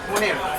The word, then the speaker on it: Munir: How you pronounce your name? Munir. Munir. I said Money. Muni. It rhymes with money.